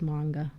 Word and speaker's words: manga: When I was growing up, the accurate way, so they say, is manga.